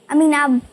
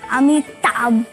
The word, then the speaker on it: अमिताभ: अमीनाब बच्चन। अमीनाब, अमीना अमीना बच्चन, बाबा, अमीना बच्चन बाबा, अमीना बच्चन बाबा। क्योंकि उसको प्रोनाउंसिएशन नहीं आता ना, अमिताभ बच्चन।